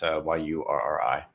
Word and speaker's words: Urry: spelled phonetically correct there, so it's Yurri.